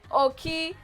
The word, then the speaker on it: Okiemute: So she goes by the name of Okiemute. just pronounce it for our fans, you know.